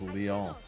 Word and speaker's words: Lyonesse: Oh, Lyonesse is pronounced just Lyon, according to Raponce.